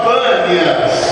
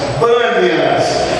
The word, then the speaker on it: Banias: Jesus era panas panas hoje o lugar se chama banias por causa da da pronúncia em em árabe porque a região ali é ocupada principalmente por árabes banias porque o nome voltou